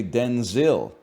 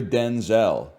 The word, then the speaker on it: Denzel: So she said from now on you're Denzel. That's how we got to pronounce Denzel. Washington clarified that his first name was originally pronounced Denzil as opposed to the Denzel he uses now.